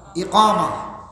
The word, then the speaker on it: ইকামা: আকামত না একামত? হ্যাঁ, ইকামা শব্দটার মূল উচ্চারণ লগি ইকামা।